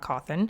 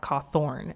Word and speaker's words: Cawthon: and published by Scott cawthon I'm going to say his name really weird because for the longest time I truly thought his name was Scott cawthorne and so it takes all